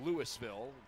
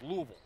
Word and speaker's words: Louisville: Remember, in Ohio, it's Louisville. Kentucky, say it like you got a mouthful of marbles. Louisville.